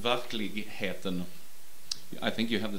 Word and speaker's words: Verkligheten: I would pronounce it Verkligheten.